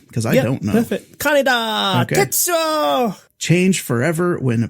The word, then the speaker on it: Kaneda: How do you actually pronounce his name? Because I don't know. Perfect. Kaneda!